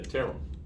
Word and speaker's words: Terrell: change my name to terrell because it rhymes with peril and that's how that's